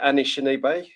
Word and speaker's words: Anishinaabe: So how do you pronounce that? Anishinaabe.